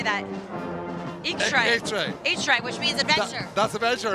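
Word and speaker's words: eachtra: to the what how do you say that eay hray which means Adventure that's Adventure at AR that's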